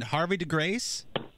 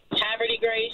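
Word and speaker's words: Havre de Grace: So you're in, how do you say your town? Harvey de Grace? Haverty Grace. Haverty Grace. Oh, Haverty Grace.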